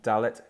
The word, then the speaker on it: Dalet: Hebrew word which means door door it's always pronounced as the letter D equivalent to our English letter D as in dog okay da let da let so we have olive bait gimel